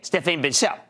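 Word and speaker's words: Stéphane Bancel: And I bumped into this real nice guy, Stephanie, I wasn't sure how to pronounce his name, Stephane Bancel, okay? Stephane Bancel.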